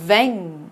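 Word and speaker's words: vingt: 철자가 좀 요렇게 생겼는데요 끝에 자음 두개가 다 발음이 나지 않아요 그래서 맹 이라고 발음합니다 근뎅 은행이 22 되겠어요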